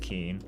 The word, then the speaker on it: Koehn: Also, thank you to Danielle who's from the area and letting us know that in Iowa, that name is commonly pronounced Keen.